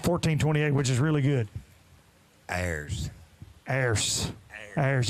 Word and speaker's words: Ayers: Ayers. You drag it out. I like that. I feel like being from Lawrenceburg, Tennessee, I can say I like that Ayers.